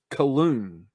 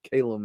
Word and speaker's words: Calum: the name Calum, and I was reading it Cologne. So I was calling him to myself. I wasn't talking to him. I was calling him Cologne. And then later, much later, I heard him say his name was Calum, and I still get that.